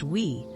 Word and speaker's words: Wii: The Wii, pronounced Wii, was a small, sleek white box, but its